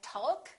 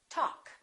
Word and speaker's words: talk: adjust adjective all right silent L we don't say walk and talk we say walk talk could would should silent